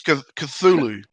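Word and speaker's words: Cthulhu: this because I don't know this word it's cthulu that's how you pronounce it cthulu yeah I I I can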